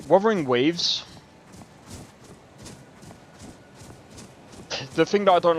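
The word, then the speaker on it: Wuthering Waves: Like weathering waves or is it I'm pretty sure it's pretty sure it's pronounced Wthering Waves.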